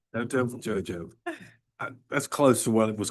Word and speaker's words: Nyotowidjojo: And I will accept your pronunciation of the name. I was just gonna say, Dr. N. Nyotowidjojo. Say it again. Nyotowidjojo. Nyotowidjojo.